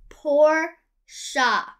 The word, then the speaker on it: Porsche: sports car oh the sports car is pronounced poor shop oh thanks dude i'll see you on set